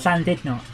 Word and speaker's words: Llandudno: No, it's Llandudno. Llandudno. The U is pronounced as an I.